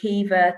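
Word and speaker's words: Caoimhe: know if i can say keeva to somebody who spells their name as c-a-i-o-m-h-e then sharmishta is is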